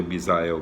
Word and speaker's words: Misael: É Misael, M-I-S-A-E-L, tá escrito, né? Deve ser Misael, né? Mas a gente sempre, a gente pronuncia Misael, né? Mas eu acredito que seja direitinho aqui, tá escrito M-I-S-A-E-L, então é Misael. Se fosse Misael seria M-I-Z-A, né?